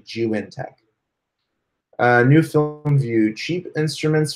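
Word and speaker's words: Zhiyun Tech: It's the Juintech version 2 gimbal. All right, so check that out. Jewel gimbal? No, Juintech. Sounds like Jew and Tech, but it's actually Juintech.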